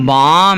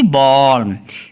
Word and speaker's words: balm: BALM बाम, ना कि बॉल।